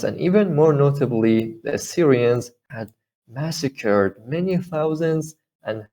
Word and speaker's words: Assyrians: even more notably uh i don't know how to pronounce syrians assyrians okay assyrians yeah so more notably in